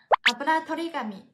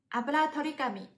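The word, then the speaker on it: あぶらとり紙: 还有补妆的时候会需要用的吸油纸，日语叫做 aburatorigami， aburatorigami， aburatorigami。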